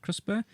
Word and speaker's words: CRISPR: Researchers used the new CRISP, which is I'm told is pronounced CRISPR, technology to achieve this.